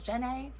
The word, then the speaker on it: Jana: Easy way to remember it is to pronounce my name like how Forest Gump pronounces Jenny's name in Forest Gump. He says Jenna.